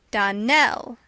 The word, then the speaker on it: Donnell: Donnell, accent on the last syllable, and St.